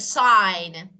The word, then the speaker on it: sign: let me give you for example you can say campaign yeah that is yeah and you can see a sign or sign foreign yeah all of them are silent G so let me okay